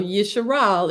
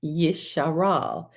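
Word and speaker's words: Yisharal: So Yeshal is the name that the father gave to YaKob son named Jacob, not Israel. It's Yeshal.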